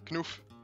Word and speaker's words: Knoef: Well, it's pronounced Knoef.